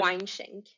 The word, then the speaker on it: Weinschenk: Could you pronounce her name for me? Susan Weinschenk.